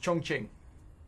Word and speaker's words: Chongqing: pretty nice comeback ish it's actually pronounced chongqing according to one of my Chinese viewers I mean I call